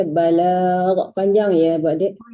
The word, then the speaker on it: البلاغ: على الرسول إلا البلاغ Panjang Wallah, balag. Jangan balak aja, balag. Panjang ya, Bu Adik. oh ya panjang. Ma'alar rasuli illal balag.